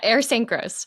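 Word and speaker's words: Ayers Saint Gross: So the name of the company that you work for is Ayer St. Ross. How did I Yes. pronounce that correctly? Yeah, Air St. Gross.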